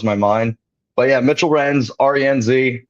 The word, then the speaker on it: Renz: Is it Renz or Rents? I see a lot of people. Cool. We are live. It is Renz. I don't honestly know how people put in the T, and I only say that